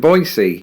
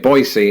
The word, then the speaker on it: Boise: at the airport in boisey also if you're wondering why I'm pronouncing it boisey instead of Boise that's how the locals told me to say it so if they